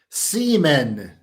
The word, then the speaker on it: CMON: Like, why pronounce the first letter and not the other three? Semen is what is how it's pronounced.